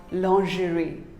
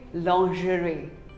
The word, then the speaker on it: lingerie: it is not lingerie it is actually called lingerie say lingerie long jury what do you call this bowl